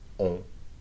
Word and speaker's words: on: On is pronounced with your nose, okay? That's one of those nasal vowels, okay?